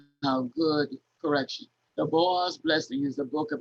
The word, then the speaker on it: Boaz: So while reading this next diagram, I want you to understand that this word is in 2 syllables, Boaz, Boaz, like the Wizard of Oz.